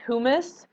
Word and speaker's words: humus: hu and you okay it's different from humus just as hummus that you eat okay this is the word we're talking about which is pronounced who miss okay who missed and that just means